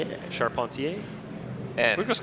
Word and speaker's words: Charpentier: Yeah, I just have a hard time of disconnecting with the French background that I have, and that's how you pronounce it. So I have to think too much about Charpentier.